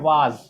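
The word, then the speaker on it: was: लेकिन वाज बोलने वाले भी गलत बोलते हैं, वाज नहीं होता है, ये वाज बिल्कुल भी आपका गलत हो जाएगा, ये होगा वॉज।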